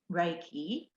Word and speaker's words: Reiki: year in fact and it's pronounced reiki from two japanese words so re meaning spiritual or life force and ki meaning energy and it's based on